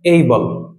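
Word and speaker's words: able: আই এম এবল টু do this work and হি ইজ এবল টু do this work, like that. So এটা এবল হবে না, এটা হবে এইবল, এইবল, এইবল, like that.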